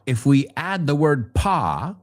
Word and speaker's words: pas: Now, if we add the word pas, que se escribe P-A-S, porque es francés, no se pronuncia la S, es un paso en falso, una metedura de pata.